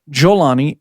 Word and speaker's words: al-Golani: Now, the rebels have taken Syria, but they had considerable help from Abu Muhammad al-Golani, or also pronounced Jolani, and has been spelled with either a G or a J, and his group, the HTS.